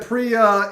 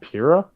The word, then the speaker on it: Pyrrha: And the problem is that Priya is so heavily involved with Jean, it's hard to tell, like... You mean Pyrrha? Yes, Pyrrha. Did I say it wrong? You were saying Priya.